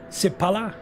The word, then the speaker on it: Sipala: So the M is actually from his first name, Miro, and his last name is Sipala.